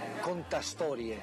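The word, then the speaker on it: cantastorie: Contastorie.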